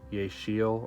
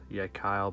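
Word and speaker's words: Yecheil: the yet Kyle pair some people yeh say yeah she'll or something like that but I believe is pronounced yet Kyle but a lot of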